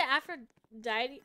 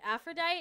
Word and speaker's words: Aphrodite: as possible it's a after D wait Aphrodite is how you say it okay um I haven't